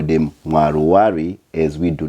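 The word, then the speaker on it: Mwaruwari: However, being that he's playing for the Zimbabwe national team, we call him Mwaluwali as we do not have the L in our alphabet.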